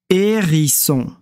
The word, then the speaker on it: hérisson: ri ce on son deux s font le son ce son hérisson marqu est sur le pont